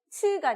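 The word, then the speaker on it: つ: 이 치라고 하는 그리고 츠, 치아 사이로 이렇게 숨이 강하게 이렇게 뱉어져야 하는 발음이기 때문에 확실하게 뱉으시면서 따라해 주시면 될 것 같아요.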